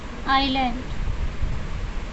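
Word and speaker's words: island: बिल्कुल रिवर्स हो गया अब जैसे आपको लिखना हो आइलैंड तब साइलेंट हो जाएगा तो फिर अगेन मॉर्फ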